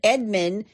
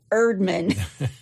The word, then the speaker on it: Erdman: A civil engineer named Earl Edward Edmund took I got his name wrong. Let me try that one more time. He's a civil engineer named Earl Edward Erdman. Edward Erdman. Earl Erdman. Erdman. It's like the chef on the Muppets.